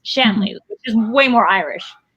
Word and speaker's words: Shanley: my apologies then because i've been calling it like it rhymes with stanley and i thought that